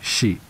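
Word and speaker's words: し: is the fact that the number four is synonymous with death it is pronounced she which is also how the word for death is pronounced there is also another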